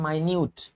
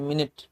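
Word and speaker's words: minute: जैसे ये है तो जब ये जब ये एडजेक्टिव का काम करता है तो इसका मतलब होता है माइन्यूट माइन्यूट पार्टिकल्स सूक्ष्म कण छोटे सूक्ष्म और जब यही नाउन होता है जैसे घंटा, सेकंड, मिनट तो मिनट पढ़ते हैं। मिनट मिनट मीट मिनट और इसको पढ़ते हैं यहां माइन्यूट सो माइन्यूट मिनट तो स्पेलिंग प्रोनाउंसिएशन इंपॉर्टेंट चीज है।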